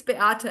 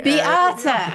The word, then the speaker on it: Beata: Beata? Hi, it's Beata actually. Beata. Yes, Beata, yeah. I know lots of Beatas. Polish name.